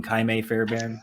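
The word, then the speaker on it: Ka'imi Fairbairn: The defense isn't worth mentioning, and I will mention Kaime Fairbairn just because a couple years ago I took the time to learn the name Kaime Fairbairn, so I just like to just put it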